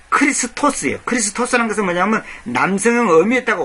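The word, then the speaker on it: Χριστός: 원래 헬라어 발음으로 정확히 크리스토스예요.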